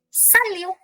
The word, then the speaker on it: salut: Salut. Yes. Salutation. Salut. Last letter is silent.